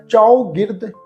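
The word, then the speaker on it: ਚਉਗਿਰਦ: खासा ख्याल रखना है च गिर्द च गिर्द पढ़ना है चौ गिर्द मतलब चारे पासे चौ गिर्द हमारे हमारे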